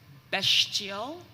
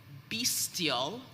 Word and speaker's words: bestial: the information concerning bestial could also be pronounced bestial beastial or bistial it is middle english